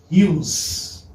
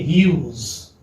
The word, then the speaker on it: Hughes: Okay, say this is, you may say Hughes. This is how it is. This is the pronunciation. Okay, Hughes.